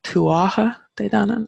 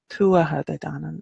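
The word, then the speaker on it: Tuatha Dé Danann: So the emphasis is very much Tuatha. And I hear a lot like tuatha de danann, and it just sounds wrong. So tuatha de danann is how I would pronounce that, and I'm sure there are other Irish people who maybe would pronounce it a little bit differently, but I've never really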